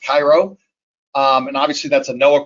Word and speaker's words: CIROH: research operations and hydrology which is pronounced cairo and obviously that's a